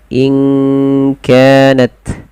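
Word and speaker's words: إن كانت: Samarkan kepada makhraj daripada huruf kaf langsung. qul inka in kanat ya.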